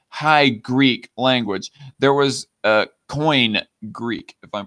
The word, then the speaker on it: Koine: Koine is its pronunciation, okay? Koine, that it's pronounced Koine.